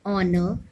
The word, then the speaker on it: honor: Use and before an H where the sound of H is silent. For example, an hour, an honor, an honorary vice president.